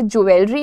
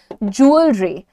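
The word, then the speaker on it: jewellery: Moving on everybody, गहनों को अंग्रेजी में ज्वेलरी नहीं बोलते हैं, और मैंने बहुत सारे पॉपुलर लोगों के मुंह से भी ज्वेलरी सुना है, ज्वेलरी नहीं है ये. The pronunciation is ज्वेलरी, ज्वेलरी. क्योंकि बेटा ये जो तुम्हारा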